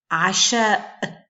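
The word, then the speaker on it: عشاء: Donc là, je prononce mon coup de glotte à la fin du mot. Asha, asha, asha, c'est dîner.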